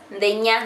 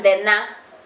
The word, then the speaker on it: Ndenya: Ndenya, Ndena, that's how you say it in Kamba. Ndena, Ndeto. Ndena, Ndeto. That's my name. Ndena, Ndeto. So you say nya, people say nya, but it's supposed to be na, because it's kao, na, Ndena, Ndena, Ndena.